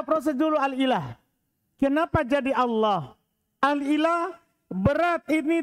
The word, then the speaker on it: Allah: Karena asalnya adalah Allahu ilahun.